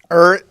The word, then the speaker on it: Ariat: Ariat. Sounds like something you do on the weekend.